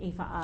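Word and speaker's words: Aoife: want to you're going to want to look IFA up yeah so my name is spelled a-o-i-f-e so uh and then the surname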